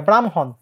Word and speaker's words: ব্রাহ্মণ: বলি সাপোজ ব্রাহ্মণ ব্রাহ্মণবাড়িয়া ব্রাহ্মণ এটার উচ্চারণ কি হবে খুবই সহজ আগে ম আগে ম পরে হ ব্রাহ্ম হন হ টা পরে চলে যাবে তাহলে এই বর্ণগুলো যদি